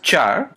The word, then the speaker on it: char: declare variable using care someone pronounce as Char I pronounce it as care okay okay so I'm